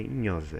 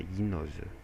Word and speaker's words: gnose: O GN tem som de nha. Nem sempre, porque às vezes quando a palavra tem uma origem que o som era de GN, ele acaba sendo pronunciado dessa forma, tipo gnose, né? Gnose é Tem GN, não é Inhosa, é Guinosa, tá?